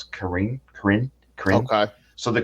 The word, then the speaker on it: Karen: Karen or Karen people I might just call it Karen but I think I might pronounce Karin Karin Karin okay so